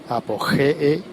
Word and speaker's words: Apogee: Se escribe como apogeo, pero al final es una doble E. No termina en O, sino que repetiría la E. Apogee con G de gato.